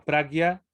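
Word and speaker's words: prājña: cuando se conjuga con la J, se pronuncia como gui, pragya.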